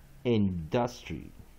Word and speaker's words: industry: U， weak vowel Y， industry， again， main stress first syllable， I N syllable。D-U-S syllable T-R-Y main stress first syllable